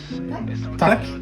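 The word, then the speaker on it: tack: Tac. Yeah. Tac. Ok, good. Hey, tac et Et Hello.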